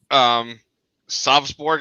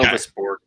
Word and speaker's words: Sovusborg: I'm going to ask a question for Sovsborg. I don't know. That's kind of how I'm pronouncing it. I think we pronounce it Sovus. Okay. Sovusborg. My apologies.